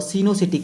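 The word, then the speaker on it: coenocytic: एसेप्टेड और सिनोसिटिक कंडीशन, इसको स्पेलिंग लिखी जाती है इसकी, देखिए COE, तो इसको और प्रोनाउंस किया जाता है इसको सिनोसिटिक।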